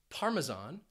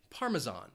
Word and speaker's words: parmesan: cheese from Italy parmesan it has three syllables and the stress you might hear it on that first syllable parmesan or you could hear it on that third syllable and people would say parmesan I tend to stress